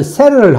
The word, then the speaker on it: settle: 여기 이제 세틀이라고 발음대가 있는데 표기대가 있는데 실제로 미국인들은 셀을 합니다. 셀을. 영국에서는 세틀이라고 하는데 미국 사람은 셀을 이릅니다.